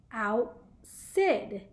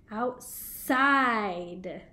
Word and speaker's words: outside: If we didn't have this silent E here, it would sound like outsid, outsid. But we put the E here, so now it's making it say its name, outside.